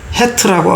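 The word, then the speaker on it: חטא: 죄의 히브리어 발음이 헤트라고 합니다.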